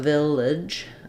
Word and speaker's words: village: the ends of words so Village um I would say you can either use an I or awah I or a it's just as long as it's a reduced vowel at the end of this word so I would write that like vage Village um it takes a